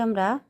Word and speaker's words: আ: তারপর আ উচ্চারণ, আ একটু দীর্ঘ হবে, আকার আছে, আ, স্বর আ, আ, আম, আ, আনারস, আম, আনারস, আ, অ, আ, অ, আ।